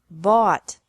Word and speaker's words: bought: Buy, bought, bought. Catch, caught, caught. Fight, fought, fought. Seek, sought, sought. Teach, taught, taught. Think, thought, thought. Remember that the G is silent in these verbs.